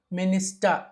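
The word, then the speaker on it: minister: ఇలా వచ్చిన సందర్భంలో చాలాసార్లు ఆర్ ని మనము సైలెంట్ చేసి అ గా పలకాలి బ్రద సిస్ట మినిస్ట కలెక్ట నావిగేట డస్ట డస్టర్ డస్టర్ అంటారు డస్ట రైట్ సిఏ అ ఖ బిఏ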